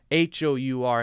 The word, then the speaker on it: hour: ah ah ah so it's the sound not the letter yes it starts with an H but it's a vowel sound Hou R has the same pronunciation of oh you are okay so we would say an hour an hour all right now what about